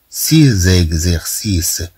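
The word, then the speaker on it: ses exercices: تاتي بعد كلمه سيس سيز اكزيرسيس. طبعا نضع هنا الربط اذا نتكلم على ليزو اكس ان تنطق كأس نقول سيس مادام أنه عندنا أس ثم عندنا أ إذن طبعا سننطقها كزاد سيز اكزيرسيس.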